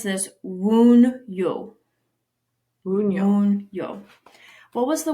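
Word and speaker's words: Wunjo: So this is Wun-yo. Yo, I think. W-O-O-N capital and then Y-O. Wun-yo. Wun-yo. But it's spelled W-U-N-J-O.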